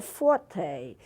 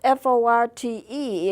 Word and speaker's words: forte: That F stands for forte. It's spelled F-O-R-T-E, and you might be tempted to say fort, but it is pronounced forte, and it means loud.